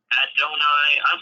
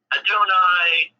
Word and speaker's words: Adonai: yeah this is starting to come along now donai sorry I I'm so bad at pronouncing things Adonai uh malamba is asking us do we hate